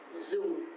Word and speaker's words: dùng: And also because the tone mark here is dấu huyền, so it's going to be down a little bit. Dùng.